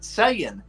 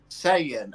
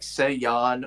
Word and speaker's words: Saiyan: I'm just saying man yeah that's how you pronounce it Sayan that's what just said I'm making sure that was what he was saying Sayan okay some people always pronounce like Sean or sayen I got this pre-ordered so but most people